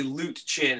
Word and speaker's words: Luetjen: That's pretty much everybody calls me, because nobody can say Luetjen. It's loot like money, chin like chin.